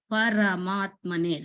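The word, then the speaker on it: परमात्मने: You have to pronounce the ra, full ra, not r. Paramatmane, ra. Paramatmane Namaha.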